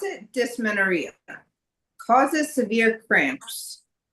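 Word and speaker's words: dysmenorrhea: I would pronounce it dismenoria.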